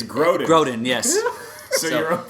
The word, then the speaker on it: Grodin: This is Robert De Niro, Charles Gordon, Midnight Run style. Thank you. I appreciate that. It's Grodin.